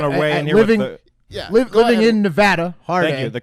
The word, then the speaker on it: Nevada: high noting one away and you're living in Nevada harder the correct pronunciation part a living in Nevada hard a